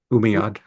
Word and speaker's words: Umayyad: Right, and it also circulated um it also circulated along the along with the um How do I pronounce this? The Umay- Umayyad.